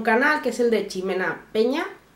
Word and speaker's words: Ximena: que es el de ximena peña creo que se pronuncia así o jimena aquí sería jimena pero bueno se escribe con x es una chica tuber